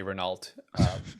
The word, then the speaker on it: Renault: I mean, for many, many years, people say Renault, but yeah, we're trying to reposition it as Renault, like the French way of pronouncing it.